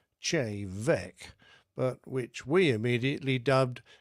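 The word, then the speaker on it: Té Bheag: A riotous evening followed, and we drank many a nightcap of a local single malt Gaelic whisky, spelt T-E-B-H-E-A-G, pronounced Che Vec, but which we immediately dubbed Tea Bag.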